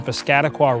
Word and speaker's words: Piscataqua: enthusiasts the city is located right on the piscataqua river that's how you say it by the